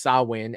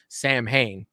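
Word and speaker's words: Samhain: at uh uh Halloween 2 uh and Lumis pronounced sawin as Sam Hayne right so Michael was going to be the demon Sam Han wow okay when he kills Judith the puzzle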